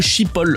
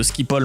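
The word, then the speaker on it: Schiphol: Et c'est comme ça que Chilope a été arrêté à l'aéroport de Chipo aux Pays-Bas. Ça s'invente pas. Non, en vrai ça se prononce Skipol mais c'est pas de ma faute.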